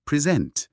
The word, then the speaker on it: present: คุณศัพท์ แปล ว่า ปัจจุบัน แต่ ถ้า เรา ไป เน้น พยางค์ หลัง เป็น present อ่า อัน นี้ จะ กลาย เป็น กริยา เลย แปล ว่า นำ เสนอ อ๋อ ความ หมาย เรื่อง